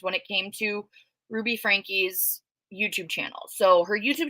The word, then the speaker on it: Franke: who don't know her their last name is pronounced Frankie um is a family vlogger and a mommy blogger was um they started their downfall in 2020.